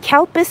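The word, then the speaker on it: Calpis: But Kalpis has the weirdest name. It sounds like C-O-W-P-I-S-S. That's when you pronounce it. It sounds like that.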